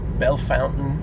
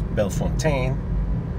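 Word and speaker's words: Bellefontaine: pronounce them very badly places such as belle fountain ohio which i initially thought was belfontaine and got laughed at for saying that so let's see and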